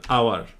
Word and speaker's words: hour: এয়ার মানে উত্তরাধিকারী, HEIR, এয়ার, HOUR, আওয়ার। এই শব্দগুলো একটা কমন বৈশিষ্ট্য কি জানো? এইচ এর উচ্চারণটা হয় না।